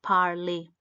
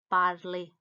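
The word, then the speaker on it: parler: bardli to speak is parley the last letter r is silent so it's badly the next word is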